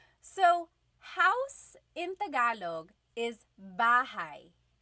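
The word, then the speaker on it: bahay: Okay, so house in Tagalog is bahigh. Bahai.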